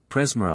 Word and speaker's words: Presmara: Corand is accented on the first syllable, Presmara on the second, Brandoch Daha on the first and fourth, Gorice on the last syllable.